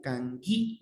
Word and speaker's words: kanki: Aquí, esta acá que ustedes ven aquí, suena como la G de gato y la U. Kangi, gi, gichik, kangichik, kangichik. Y lo mismo aquí, kangi, kangi, kangichik, ¿ya?